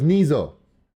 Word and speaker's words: Niso: jokes about that, but it's Niso with the N, so I'm going to spell it every time. So would you say that it's pronounced with a Z more than an S? Yes. So it's Niso.